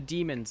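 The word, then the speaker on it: Dæmons: like a oh yeah it's supposed to be pronounced demons but the director of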